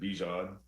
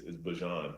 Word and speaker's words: Bijan: And I just said, like, I pronounce it Bijan, but my mom, you know, her pronunciation for it is Bijan.